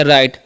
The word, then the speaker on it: right: तो यहाँ पर आर का उच्चारण र करते हैं, आई का उच्चारण आई, और GH यहाँ पर उच्चारण नहीं होता, साइलेंट होता है, टी सेट तो हो गया राइट।